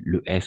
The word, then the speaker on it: les: Le S est muet, d'accord?